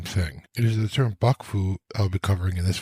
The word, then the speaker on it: 幕府: It is the term Bakufu I'll be covering in this video. Bakufu is made up of two characters. The first, pronounced baku in this case, meaning a tent or curtains.